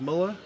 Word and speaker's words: Moeller: down with uh Chris Muller howdy is it pronounced Miller okay we've got to eat after it and